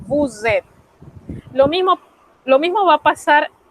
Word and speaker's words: vous êtes: Usted empareja ese pronombre convirtiendo a la hora de pronunciar esa S del bu en una Z y enseguida usted pronuncia esa E, vous êtes.